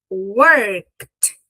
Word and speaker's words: worked: Na hora da pronúncia, eu não vou falar esse é. Ok? Então, ele vai ficar work e eu ponho worked.